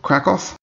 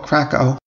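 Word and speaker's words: Kraków: leo express i took them from prague to krakow in poland a lot of americans call it krakow but the correct pronunciation is in fact krakow so there's the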